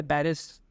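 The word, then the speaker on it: Paris: इनका पूरा नाम था जॉन पॉल चार्ल्स एमार्ड सार्त्र। इनके बाप दादा शायद इनका नाम पड़ा होगा। 21 जून 1905 में 1905 में पारी में पैदा हुए, पेरिस, अगेन फ्रेंच प्रोनाउंसिएशन, पारी में पैदा हुए, फ्रांस।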